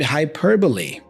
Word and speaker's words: hyperbole: we have the word hyperbole hyperbole the schw sound here is in the